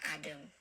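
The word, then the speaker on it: Adım: Tapi kalau huruf kecil maupun huruf besarnya tidak ada kepalanya atau tidak ada titik di atasnya, maka bacanya E, teman-teman. Benim Adem, nih seperti Adem, ya saya ingatkan saya lagi, bacanya Adem, E.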